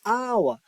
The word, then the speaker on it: hour: is H child and an hour not how how it is not how it is our that's why Focus the